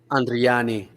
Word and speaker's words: Andriani: Okay, man, I'm sorry, and Andriani, Andriani. that's how you say it.